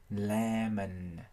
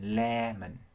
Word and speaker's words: lemon: mọi người, nhưng mà chỉ có điều là chúng ta thường sẽ phát âm hai âm đều bằng nhau. Nên trong trường hợp kéo dài một chút âm đầu tiên lemon.